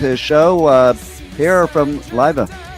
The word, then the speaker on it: Liva: show uh here from livea how are you did I pronounce it right anyway yes Pierre you you got it Pierre Carlo it's my